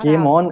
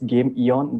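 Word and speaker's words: Gameeon: company oh yeah yay it's not game on as uh usually people pronounce it it's game eon there's a there are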